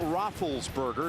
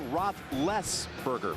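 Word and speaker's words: Roethlisberger: this Young upstart quarterback it's not rothberger as everybody's been pronouncing it it's Roth leberger Roth leberger has been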